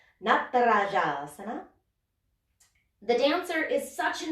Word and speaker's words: Natarajasana: Because Natarajasana, that's how you say that pose, by the way. Na, ta, ra, ja. Easy. It's all the same syllable. Na, ta, ra, ja. Natarajasana.